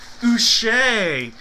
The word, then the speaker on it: Uche: Speaking of names that are interesting the way to pronounce, this is a Patriots jersey, but it doesn't matter because it is pronounced Uche. Uche. He's not a Patriot anymore, but it is going to be a hit for the letter U.